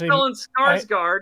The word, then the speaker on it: Stellan Skarsgård: I actually, It's Stellan Skarsgård.